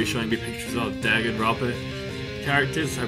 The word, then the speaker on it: Danganronpa: He's gonna be showing me pictures of Danganropa characters. I pronounced that right? I probably didn't. You're good. No, you got it right. Danganropa.